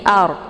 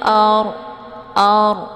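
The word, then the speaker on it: الأرض: yang sebelumnya harakat fathah cara bacanya orangnya ditebalkan ya jadi art posisi Ujung lidahnya terangkat ke langit jadi jangan Ar ya dengan mulut yang terbuka itu bacaan yang salah yang benar dibacanya fil ARD ya beli dibaca pendek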